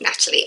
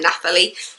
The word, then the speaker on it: Nathalie: Scott and Nathalie Buscombe, because it's N-A-T-H, and so I've heard it pronounced both Natalie and Nathalie, so yeah.